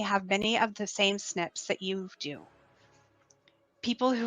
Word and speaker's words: SNP: You may wonder, what are DNA SNPs and how do they help us find our ancestors? The acronym SNP stands for Single Nucleotide Polymorphism, and we pronounce this as SNP when talking about DNA.